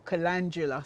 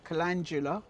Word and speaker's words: calendula: were done from seedling this is calendula or calandula sorry calendula it's pronounced and these are cosmos